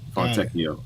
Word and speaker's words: Fontecchio: And Gina Kim said, the T is pronounced Tecchio. Okay, Tecchio. Fontecchio.